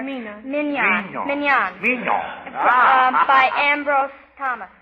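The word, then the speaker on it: Mignon: Tatania from um um I can spell it but I I never can pronounce it. It's M I G O N something like that. Mone or minan.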